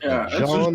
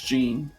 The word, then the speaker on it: Jean: next we'll go to do you want to pronounce jean or is it john or something like that it's gene okay so next is gene